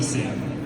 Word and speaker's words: Singh: My name is Singh. My first name is pronounced, and my last name is Singh as in song.